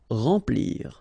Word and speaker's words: remplir: Okay, M nasal, remplir.